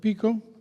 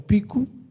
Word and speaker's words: Pico: Welcome everyone to the Echoes of Pico or Picu, that's actually the better pronunciation.